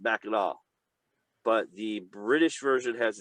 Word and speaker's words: Mackinac: Both are pronounced Mackinac, but the British version has a W, which makes sense. Like English, this, W, Mackinac City. Mackinac, The French has a C, which is silent.